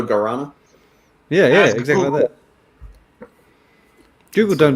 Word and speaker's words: guarana: like gurana guarana no i just don't pronounce the u so guarana yeah yeah exactly google